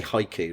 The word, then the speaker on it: haiku: his his hi actually I should say haiku not hu I think so here